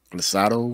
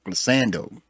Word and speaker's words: glissando: The glissado. Am I saying it wrong? Glissando.